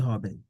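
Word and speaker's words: ح: এখানে বাংলায় লেখা আছে হা আসলে হা বললে হবে না এটির সঠিক উচ্চারণ হচ্ছে হা আমাদের গলার মাঝখান থেকে উচ্চারণ করতে হবে এটিকে বাংলায় বলে কন্ঠনালী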